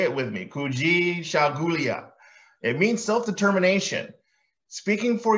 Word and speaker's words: Kujichagulia: one I've been hard having a hard time pronouncing it myself kui shulia kui shulia say it with me kui shulia it means self-determination speaking for yourself and making